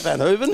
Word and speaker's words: Verhoeven: We've got the lady driver, the 36 car, Veronica Verhoeven. How do you pronounce that? Van Hooven?